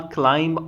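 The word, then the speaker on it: climb: फिर क्या हुआ, Bilal क्लाइंब ऑन टू a bench, Bilal चढ़ा, ठीक है, क्लाइंब मतलब चढ़ा, यहाँ पे बी साइलेंट है, कहाँ पे, एक बेंच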